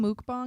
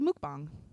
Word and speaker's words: mukbang: What is mook and what is bong? It's one word. It's spelled I thought we were gonna Muk smoke M-U-K. Mook.